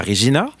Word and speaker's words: Regina: Puis on s'est rendu à Regina. Oui. Il faut prononcer Vina comme vagina. Oui, comme Regina George.